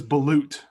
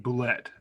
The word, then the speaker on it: balut: that it it is balut it is balut by the way finally i i said it wrong i said bullet but it's my loot you're insulting our french